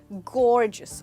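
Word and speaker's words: gorgeous: दोस्तों इसकी प्रोनाउंसिएशन पे ध्यान दीजिएगा, हम इसको गॉर्जियस नहीं बोलेंगे बट गॉर्जियस। तो जो GEOU है इसको आप बोलेंगे जिस, गॉर्जियस, और आपका स्ट्रेस आएगा गौर के ऊपर।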